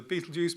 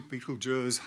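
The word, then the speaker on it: Betelgeuse: pardon uh yep so Beetle Juice Beetle guys Beetle JS ble J however you want to pronounce it it's that one um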